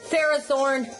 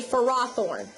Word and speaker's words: Ferrothorn: the sandstorm so uh Ferrothorn not Ferrothorn that's not how you say it I got to break that habit you say Ferrothorn that's how it's pronounced for rothorn uh